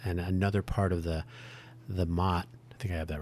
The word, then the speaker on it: Motte: Am I saying Mott correctly? It's not Mode, is it? It's Motte. But, oh yeah. Yeah, pronunciation is Mott. If you look at an image, if you look at the Wikipedia page, it looks like it might be a moat, but a moat is Moat. So the Mott is the defense.